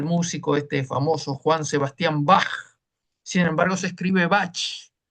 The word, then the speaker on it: Bach: y todo eso, que la CH suena como una J. Por eso nosotros decimos el músico este famoso Juan Sebastián Bach. Sin embargo, se escribe Bach, pero se pronuncia Bach.